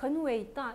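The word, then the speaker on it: 伟大: 고 말 하고 싶다면 , 'widae' 라는 단어는 발음 하기 어렵습니다 . 그럼 어떻게 하세요 ? ' 웨이다 '? ' 웨이다 '.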